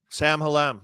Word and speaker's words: Sam Hallam: And then the second half of that is how do you pronounce it? Army Sam Hallam, is it? Sam Hallam, yep.